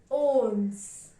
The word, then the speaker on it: onze: 11 is pronounced as onze. Onze.